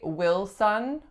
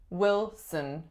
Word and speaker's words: Wilson: we have Wilson Wilson strongest syllable is which syllable number one and it's a lacks a vowel the second syllable just like Johnson reduces to schwa so we do not say will son we say Wilson Wilson next one we